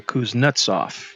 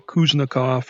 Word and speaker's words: Kuznetsov: This time, I'm on the deck of the Kuznetsov. I think I pronounced it right this time. I was calling it the Kuznikov or something.